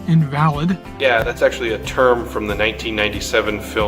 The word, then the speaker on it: invalid: said, "Ketty is an invalid." And I thought, well, that's not very nice. Well, I found out I was pronouncing it wrong. It was actually an invalid.